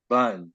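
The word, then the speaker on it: Bund: um called a German bun I mean I'm going pronounce the last spelled bu n d and that was a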